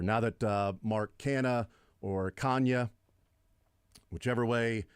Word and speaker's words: Canha: It's actually Kanya. He's like, it's Kanya. The N is sort of like nya. You roll Kanya. And he's like, but everybody calls me Canha, so I don't care.